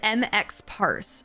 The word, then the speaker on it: Emxpars: English is quite hard so it's m Parks so it's I I pronounce it MX parse as like three different things yeah it's it's actually